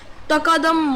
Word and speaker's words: tqdm: use some mod a module named Tiki tqdm pronounced so we are gonna use takadam module right so let's just